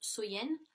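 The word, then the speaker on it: Samhain: donc était samen donc qui est prononcer qui se prononce soyen et donc il croyait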